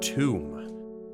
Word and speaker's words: Thumb: Oh, wait. Pronounced tomb.